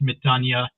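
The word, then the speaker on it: ⲙⲉⲧⲁⲛⲟⲓⲁ: I think the noun is pronounced metania, and the verb is pronounced metanoi, because the verb ends in, I think, omicron epsilon iota.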